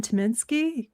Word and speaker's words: Tyminski: I saw on your schedule that you'll be playing with Dan Tyminski.